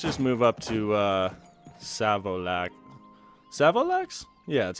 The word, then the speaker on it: Savolax: Savolax?